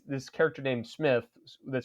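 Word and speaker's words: Psmith: And and and people will sometimes say it's this character named Smith that starts with a P. The P is silent.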